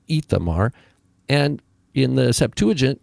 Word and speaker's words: Ithamar: Ithamar. They start that now. It starts with an aleph in Hebrew, but it is vocalized with a hirik yod, Ithamar, and in the Septuagint it's spelled with a yoda.